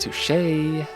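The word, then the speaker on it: touché: It's pronounced to shay.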